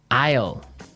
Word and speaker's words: aisle: spelled so strangely right we don't pronounce the S the S is silent it's that's true ale